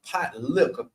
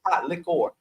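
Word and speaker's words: pot likker: in the South like pot liquor do you see how he spell that l i k k e r that's how pronouncing s not lior not pot lior pot liquor Li liquor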